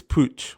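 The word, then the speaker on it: Puig: lot of them yes that is how you pronounce it's Pooch that's how you pronounce it but anyway when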